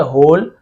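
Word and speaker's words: whole: तो होल ठीक है होल इसे हम केवल होल पड़ेंगे क्योंकि वॉल ऐसे एक्चुअल में ऐसे लिखा हुआ जरूर रहता है हिंदी में लेकिन डब्लू साइलेंट पढ़ते हैं ठीक है ध्यान रखेंगे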